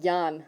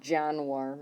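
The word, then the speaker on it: Januar: case you're confused okay so pronunciation wise Yan war or something something along that line Yan the it's big thing is that it's not janir or something okay TR that one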